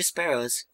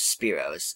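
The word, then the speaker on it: Spearow: you have three of those spearos there I said it right that time so how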